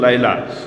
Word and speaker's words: লায়লা: ওইযে লাইলি মজনুর কেচ্ছা আছে না লাইলি বলে মূল উচ্চারণ তো লায়লা ওই জামানার লায়লা মনে হবে।